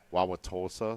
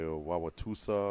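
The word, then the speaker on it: Wausau: in Brookfield that's easy um wossa some people say wausa or things like that uh Kad some people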